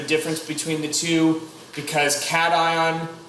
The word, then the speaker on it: cation: between the two because cation makes you want to pronounce staycation which sounds like vacation and those are definitely